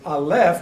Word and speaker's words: aleph: So it's aleph, which is silent.